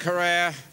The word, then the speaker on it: Herer: Jack Herrera. Have I pronounced it correctly, Jack?